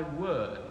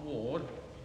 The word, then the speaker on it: word: O establish thy word, it is, not ward.